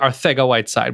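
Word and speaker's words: Arcega-Whiteside: hundred and twenty some odd yards to JJ our thing a white side which is which is how you pronounce it right correct um now you now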